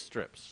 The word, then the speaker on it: Stryps: Am I pronouncing that right? Because it's the Y. It is Stryps, right? Stryps. Okay, just making sure.